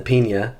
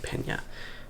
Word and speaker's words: Peña: not so little knife this is the pina or pena i think you're supposed to say pena yeah pena enrique pena